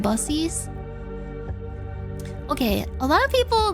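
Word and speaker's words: Buc-ee's: friendly friendly boner tingle it's pronounced busies okay a lot of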